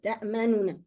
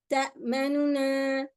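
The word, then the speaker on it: تأمنا: Okay, it's supposed to be a noon dhamma, ta'manu, and then a noon fatha, ta'manuna. However, when it was written, it got written like this. But the way that we pronounce here, we can either do and give this first noon a small dhamma, and then we do the next noon. So we say ta'manuna, ta'manuna, ta'manuna.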